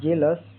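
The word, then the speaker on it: jealous: जी ई एल ओ एस का उच्चारण pronoun जेलस यहां इ का उच्चारण ए छोटी ए की तरह होता है। आ के ओ यू एस अस हल्की ध्वनि जेलस का अर्थ ईर्षालु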